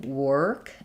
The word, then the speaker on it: work: So the main difference between work and walk is that walk has the a open, no tightness, no r. Whereas work, you need that tight sound.